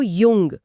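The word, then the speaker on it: jung: या वर्ष को कहते हैं यार मतलब यार और युवा को युंग मतलब युंग और जैकेट को जैके यानी याके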